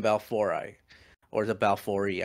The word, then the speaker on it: Monocentropus balfouri: world is the m balfouri or the balfouri i've been corrected recently by a latin speaker so it's pronounced m monocentropus balfouri and they are the